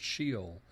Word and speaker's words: Sheol: English and pronounced it according to an English pronunciation of the Hebrew word, Sheol.